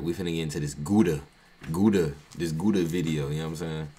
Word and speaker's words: Gooba: It's GOOBA.